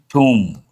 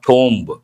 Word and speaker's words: tomb: wall falls near Humayun's tomb. Six people killed as walls fall as walls near Humayun's tomb. Here B is silent. Tomb, not tomb.